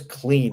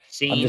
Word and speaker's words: Cine: Lewis, it's Lewis Clean apparently, or whatever. Clean. Clean or something like that. Cine. It's like CINE. It's a tough last name.